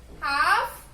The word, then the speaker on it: half: The letter L is silent, right?